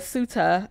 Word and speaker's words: Ceuta: I looked up how to pronounce the word because I was saying it wrong earlier. But Ceuta on Thursday.